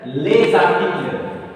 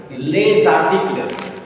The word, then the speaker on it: les articles: So already I told when S will have liaison with a vowel, S will be pronounced Z.